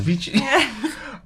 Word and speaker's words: Vici: It's I think VC. you're wrong. It's Italian. Look it up. Italian. Vici.